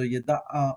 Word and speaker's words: ידע: So yada'a or yada, depending on how you want to pronounce it, how you've been taught to pronounce it, and maybe how your professor or your book will teach you to pronounce it.